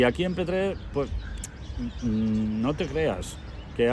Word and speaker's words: Petrer: a veces la expresión, hay gente que dice, yo soy de Petrel. Sí. Que es a partir de una determinada demarcación territorial. El que te dice eso, la L no la pronuncia. De Petrer. Correcto.